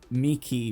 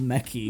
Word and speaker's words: Miki: And then you've got Miki being called Mickey, Mickey.